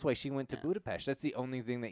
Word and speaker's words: Budapest: But it's There's also no H so in Budapest. it's so dumb. Yeah. Yeah, yes, it is. That's how you pronounce it. There's no H in it. I don't care. I'm American. It's not Budapest.